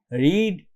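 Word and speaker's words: read: রিড, রেড, দেখো এটা বানানটা একই আছে কিন্তু উচ্চারণটা হবে রেড, এটা খেয়াল রাখো, ঠিক আছে।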